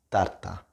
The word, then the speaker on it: tarta: It's just kind of similar, just a bit less plosive, right?